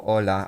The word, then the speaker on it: hola: Do not pronounce the H in hablo or hola. Oh, I knew that, to be fair.